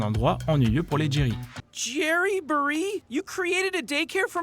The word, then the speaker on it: Jamboree: Le mythe numéro 3, c'est à propos de la gare Jerry en VO qui se prononce Jerryborry.